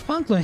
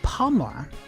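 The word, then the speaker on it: Palmer: His name I thought his name is Punklin. His name is Pomla. I've been pronouncing his name wrong the whole time.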